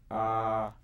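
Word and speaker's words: אבא: Now, why is it also Abba? It has an Aleph at the end, but Aleph is a silent letter, and there's no vowels that I attributed to this letter, so it's really silent. It would be the same. This Abba sounds the same as this Abba.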